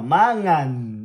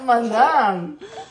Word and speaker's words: mangan: No, it's not manang. It's not namang. It's m O m a.